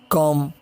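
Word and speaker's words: comb: और इसी तरह जब बी एम के बाद आए तब भी बी साइलेंट रहता है, जैसे तम, क्लाइम, कॉम, डम, बॉम, लैम, प्लमर।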